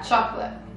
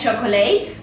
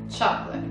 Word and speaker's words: chocolate: quindi la cioccolata Quindi come si pronuncia chocolate chocolate non è chocolate No è chocolate chocolate Ok quindi My Favorite